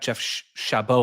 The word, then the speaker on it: Jeff Chabot: Stuttgart center back Jeff Chabot, I believe is the pronunciation. Yes, very good.